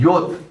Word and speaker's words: J: J is a yot. It's pronounced yot.